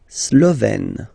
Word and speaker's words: Slovène: La Slovénie, so only one form here, Slovène. Slovène. Remember, E accent grave, you open it.